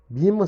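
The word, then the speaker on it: Böhme: Bima se escreve B-O com trema H-M-E.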